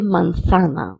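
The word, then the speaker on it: manzana: Elsumo de mansana is apple juice. And we can also say elsumo de mansana. We can pronounce the zed as th or s.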